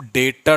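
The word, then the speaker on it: debtor: में सेल किया है उसे हम डीटर बोलते हैं इसमें बी साइलेंट होता है और इसे हम कहते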